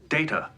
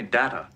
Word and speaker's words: Data: at this data what my name it is pronounced data oh you called me data well what's the difference one is my name